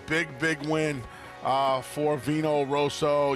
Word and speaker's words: Vino Rosso: big win uh for Vino Rosso you're not really supposed to roll your RS twice in the call by the way um